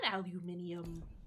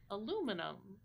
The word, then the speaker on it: aluminium: I prefer aluminium, because it's how we say it here, but also because it's just got... It's just so much. It's got all the syllables. It goes up and down and up again.